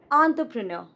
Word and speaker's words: entrepreneur: This one is not entrepreneur, but entrepreneur. Entrepreneur.